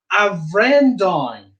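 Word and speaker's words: Bhreandáin: You'd say, "A Vrendoin," "A Vrendoin," and that's how you would call me using the vocative in Irish.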